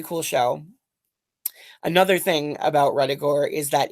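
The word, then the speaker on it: Ruddigore: show another thing about retigor is that its name was the subject of some controversy because it rhymes with a victorian expression bloody gore which to the victorians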